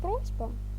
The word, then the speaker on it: просьба: прикладі представлене слово просьба слово просьба має наголос на першому складі на букві о буква з - це